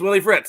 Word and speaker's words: Willie Fritz: want to make sure I'm not saying his name wrong because that would be very embarrassing is it Willie Fritz yes it's Willie Fritz okay Willie Fritz hired as the new Houston